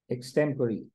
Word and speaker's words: extempore: The word in ले is this एक्सटेम्पररी. That's the right pronunciation of this word.